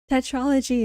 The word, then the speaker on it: tetralogy: How would you even pronounce that word? Tetralogy. Tetralogy. Tetralogy it is.